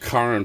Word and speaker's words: Charon: Pluto and Charon, or Charon. It's pronounced Charon from the Greek Charun, probably a Chi.